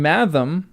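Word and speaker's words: mathom: For example, bul has g as in bulge and math rhymes with fathom.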